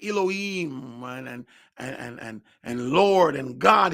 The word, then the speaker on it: Elohim: We use word like Elohim and Lord and God. It's not the way we're supposed to say it. What we call Elohim is actually Elohim.